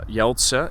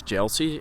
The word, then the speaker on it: Jeltse: Jeltse, it's actually just Jeltse, but most people in English just pronounce it as Jeltsi, and that's why I pronounce myself. That's why I introduce myself as Jeltsi, but it's Jeltse.